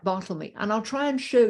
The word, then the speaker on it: Bartholomew: his servant, who's called Bartlemy, spelt Bartholomew, but apparently pronounced Bartlemy back in the day.